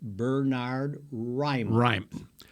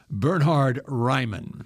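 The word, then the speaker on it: Bernhard Raimann: It is Bernard Ryman. Bernard Ryman. Bernhard. Yeah, Burr. B-E-R-R. Burr.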